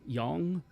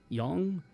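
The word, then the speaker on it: 阳: The yang position and the yin position, which I think the yang is actually pronounced yang. Yong. Yong.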